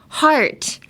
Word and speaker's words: heart: Whereas in heart, you have to open your mouth wider in the beginning, like heart versus hurt.